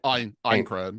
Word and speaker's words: Aincrad: And again, I want to get that pronunciation correct. It's Echoes of Aincrad? Aincrad.